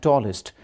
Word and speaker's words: tallest: EST is usually pronounced as est in Pakistan. For example, tallest, biggest, hardest. That is wrong. You must avoid it. It should be ist.